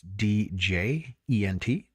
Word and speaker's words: djent: So a band that really illustrates that, and they're now claimed the godfathers of this genre, called djent, which is spelled with a D, so it's D-J-E-N-T, but it's, for whatever reason, silent D, so it's djent.